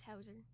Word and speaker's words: Hauser: I have a set team, but because some stories require, yep, his name is Hauser. It's spelled with a Z, not an S.